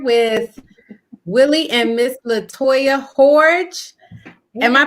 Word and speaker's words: Hordge: i am here with willie and miss latoya gorge am i pronouncing your names right yes you probably got